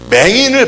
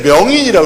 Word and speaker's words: 맹인: 근데 여러분, 그 제 동기 목사님 가운데 저기 또 그쪽에 사시는 분이 맹인을 발음을 못해요. 맹인을 명인이라고 그래. 명인.